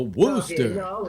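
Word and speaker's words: Worcester: elmer fudd talking about a male chicken a wooster because you pronounce it okay yeah yeah uh you're liking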